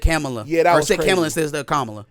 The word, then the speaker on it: Kamala: yeah that was hezy he said kamla instead of camela are you out of